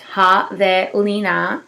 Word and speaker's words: javelina: Javelina, pronounced Javelina, comes from a Spanish name for the colored